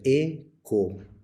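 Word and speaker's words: ἔχω: agregaremos las desinencias correspondientes la primera persona del singular es o por eso se pronuncia eco yo tengo presente activo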